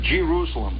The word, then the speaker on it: Jerusalem: says Jerusalem Indiana and you can whistling at Jerusalem by the way is the way it's pronounced out there you start coming into Jerusalem